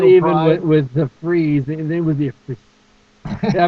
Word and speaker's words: Fries: in mixed martial arts my name is chris price freeze like you know it's a habit now i'm so often now i'm slating uh or saying my name in voiceover auditions as chris prize that i i have no longer chris freeze i have metamorphosized into the sellout that i have become yeah just a [